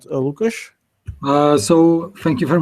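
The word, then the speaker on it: Łukasz: let's check a sound how does it sound lucash uh so thank you very much for introduction um you pronounced my sname very well that's first thing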